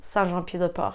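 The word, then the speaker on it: Saint-Jean-Pied-de-Port: John PA de port but in French it's Santa pupae and this is most famous because this is where the French way of st.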